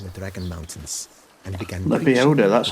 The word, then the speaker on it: Lebioda: He retired to a monastery in the Dragon Mountains and began Lebioda, that's how you pronounce it.